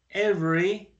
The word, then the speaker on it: every: I feed my dog every morning. Entonces aquí tenemos ya otra expresión. Every. Miren que es como si no existiera la E. Cuando yo lo pronuncio digo every morning.